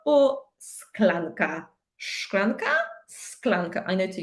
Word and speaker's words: szklanka: Do we say szklanka or sklanka?